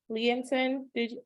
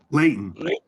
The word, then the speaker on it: Leighton: Future Doctor PhD Leonton, I feel like I mispronounced. Jason, how do you pronounce his name? Leighton. Leighton, okay.